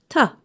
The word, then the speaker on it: to: When we say it quickly, the word to is pronounced ta.